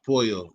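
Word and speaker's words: pollo: the polo show but in spanish it's poyo it's chicken okay all right y'all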